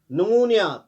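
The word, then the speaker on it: pneumonia: नमूनिया, पी से start होता है, पी साइलेंट रहता है।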